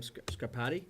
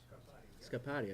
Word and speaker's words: Scarpati: William Scarpati? Scarpati? Scarpati. I said it right the first time.